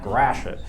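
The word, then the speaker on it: Gratiot: drive down jefferson avenue grashan there's a detroit pronunciation for you if you ever heard them grash it yeah well that's the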